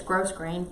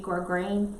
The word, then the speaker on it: grosgrain: told to pronounce it s is silent I say it's grosgrain but it's supposed to be gorg rain or something like that